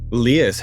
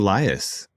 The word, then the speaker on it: Lyas: This is Leas and we're talking about what's contemporary now. Leas. How many people call you Lias?